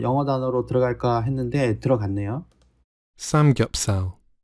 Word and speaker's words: samgyeopsal: Samgyeopsal. Samgyeopsal. 자, 이렇게 발음한다고 되어 있고 뭐 이게 어떤 건지는 우리는 다 알고 있으니까 설명이 어렵지는 않을 거고요.